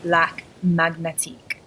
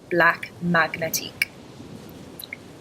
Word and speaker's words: Black Magnétique: So the way you would pronounce it is black magnetique, black magnetique.